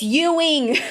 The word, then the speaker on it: Ewing: It's Ewing's sarcoma. Every single time she tries to pronounce it, she calls it Ewing. Ewing. Ewing sarcoma Ewing. Ewing. It's Ewing.